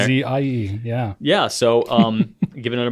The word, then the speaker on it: Aussie: with all rights, privileges, and duties appertaining thereto, including the right to use the term Aussie, pronounced Aussie. He wrote that down there. Ozzie.